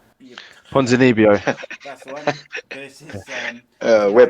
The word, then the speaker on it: Ponzinibbio: As I'm going to pronounce this poor man's name wrong. Santiago Ponzinibbio. Ponzinibbio.